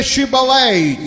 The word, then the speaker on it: Shibboleth: you say Shibboleth.